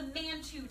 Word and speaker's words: Mantoux: It can be called the Mantoux test. The X is silent.